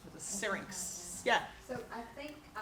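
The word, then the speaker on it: syrinx: what was that word that they vocalize from singx how do you spell it s y r i n X singx yeah so I think I have oberved this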